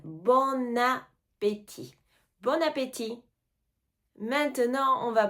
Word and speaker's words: bon appétit: bon appétit bon appétit on fait un peu la liaison on entend le N bon appétit bon appétit maintenant on